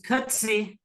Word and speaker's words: Coetzee: Yeah, it's Coetzee.